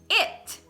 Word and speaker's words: it: Agora, o pronome é escrito com I, então vai ser o E, né? O som de E. Então é it.